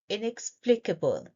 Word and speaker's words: inexplicable: We stress on this syllable, plea.